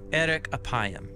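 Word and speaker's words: ארך אפים: interesting in Hebrew the phrase slow to anger is pronounced Eric aayam or literally long of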